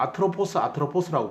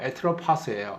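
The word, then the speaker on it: Ἄτροπος: 그러니까 죽음을 뜻하는 말에서 우리가 아트로포스라고 보통 부르는 신인데 정확하게 발음은 에트로파스예요.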